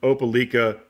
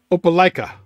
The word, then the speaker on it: Opelika: Brasher from Opelika, Alabama. Opelika. Opelika, Opelika. You say tomato, I say tomato. How dare you mispronounce something from Alabama.